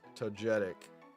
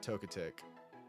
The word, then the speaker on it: Togetic: Togetic. It is pronounced toetic and not tok if you're wondering Ariados.